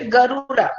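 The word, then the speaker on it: Garuda: Next question, the Shunga ruler Bhaga erected a monolithic Garura, এটার উচ্চারণটা হচ্ছে গারুরা।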